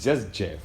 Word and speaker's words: Jus Geoff: been nice hanging with jess geoff yeah yeah people have a problem pronouncing that name yeah yeah it's just jeff just just believe you